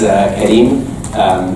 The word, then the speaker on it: Karim: So my name is Karim. That's the Arabic pronunciation. You can also say Karim.